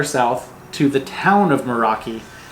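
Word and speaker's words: Moeraki: We kept on Morakai saying the boulders. Morakai boulders. And the correct pronunciation is Meraki.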